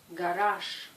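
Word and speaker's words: гараж: Ici, la lettre G à la fin se prononce ch. Garage.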